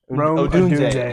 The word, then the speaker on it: Odunze: Odunes? Or Odunze. Odunze.